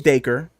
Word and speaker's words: Dacre: the drink yeah exactly but it is daker this makes sense because like if you take the d away from his name it's acre like I got 40 acres yeah the thing that you know black people did not get uh the 40 acres by the man put a D in front of that you got daker okay yeah so today's